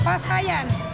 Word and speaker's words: pasayan: How do you say shrimp in Bisaya? Pasayan. Pasayan. Pasayan.